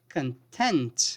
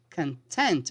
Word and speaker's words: content: this case it's not that content here the pronunciation is content okay content which means slightly happy kind of happy content